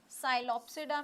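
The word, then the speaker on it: Psilopsida: साइलोप्सिडा में, यह वैसा ही है ; आपके 'P' में साइलेंट अक्षर है।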